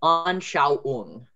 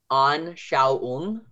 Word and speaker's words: Anschauung: That au sound is A-U. So whenever you au, like au, I'm hurt in a sense, it's A-U. So whenever you hear that, it's au. And then the ung ending is common.